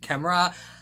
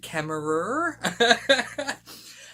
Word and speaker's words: Kemmerer: When Americans pronounce horror, it sounds really weird, like horror does sound better, I'll admit, but Kemmerer sounds better than Kemmerer. But anyway, I'm sorry, in Australia, ER is pronounced as A.